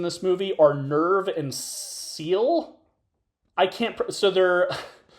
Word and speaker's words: Seele: movie are Nerv and Seele. I can't put So, they're It's basically kind of a play on mind and soul cuz I think it's pronounced Seele. It's a German word that means soul.